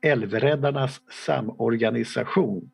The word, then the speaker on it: Älvräddarnas Samorganisation: organization, River Savers Association, or in Swedish, now we have a small lecture how to pronounce this, Älvräddarnas Samorganisation, as it is pronounced in Swedish.